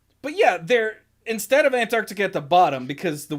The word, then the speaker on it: Antarctica: most common one like that second c just doesn't exist it's antarct antarctica but that's a normal